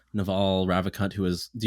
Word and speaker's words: Naval: check him out yeah so it's like a naval base except you say his name is naval okay yeah so i'm